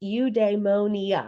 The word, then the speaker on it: eudaimonia: So it is pronounced udemonia.